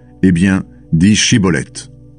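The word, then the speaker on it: Shibboleth: « Eh bien, dis Shiboleth ». L'homme dit Siboleth, parce qu'il n'arrive pas à bien prononcer ce mot.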